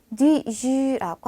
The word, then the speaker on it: du jus: 자, 제가 발음은 G라고 적어 드렸는데 G라고 하시면서 입을 좀 더 우하고 모아주세요. 그래서 주와 G 사이 발음이 나도록 해주시면 됩니다.